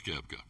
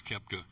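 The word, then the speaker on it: Koepka: Brooks Keepka. I'm sorry. The O is silent. Brooks Kepta has agreed to forfeit any player equity shares for the next five years.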